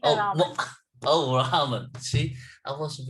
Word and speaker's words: Raman: Do I pronounce it correctly? Uh, More or less, yes, Oh, Raman.